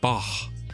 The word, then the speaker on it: Bach: You keep on pronouncing it like more of a K though. Bach, or the Loch Ness Monster.